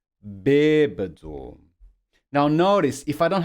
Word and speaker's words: bêbado: Without the accent mark, bêbado, we would say bebado.